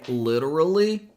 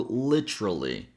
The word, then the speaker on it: literally: You can say literally or literally. I personally never pronounce them together using this tr sound. I always say them separately. And the last syllable is lee with a tense e sound.